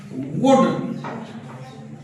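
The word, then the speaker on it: would: याद रखना है कि ये एल साइलेंट है क्या ये साइलेंट है जैसे गो एंड सॉइ वुड शुड इसमें दोनों में एल आप देख रहे हैं इसको आप केवल ऐसे बोलेंगे वुड इसको बोलेंगे शुड शुड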